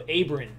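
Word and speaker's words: Abrams: a bunch of grown-ups it's pronounced with the short a not-so abran abran got it yeah that's an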